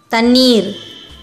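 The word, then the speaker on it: தண்ணீர்: Ta, a short sound letter. In, a consonant. This is big in. While pronouncing it, your tip of the tongue touches the middle roof of your mouth. Then ni, a long sound letter. This is also big ni.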